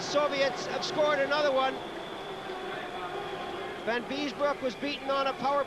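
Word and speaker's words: Vanbiesbrouck: but he really did miss that one by Van Biesbroek, right at the end of the period. Van Biesbroek, I'll say it correctly this time, as he took a chop at Lomakin.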